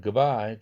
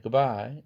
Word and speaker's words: goodbye: 드가 프로 바뀌는 걸 봅시다. goodbye 이것이 빨리 발음하면 goodbye, goodbye 이래요. 드가 브로 바뀌었어.